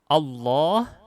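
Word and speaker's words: الله: Allah, nah, alifnya di sini dihapus ini.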